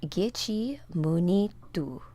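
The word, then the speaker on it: Gichi-manidoo: The Ojibwe pronunciation is Gichi Munitu.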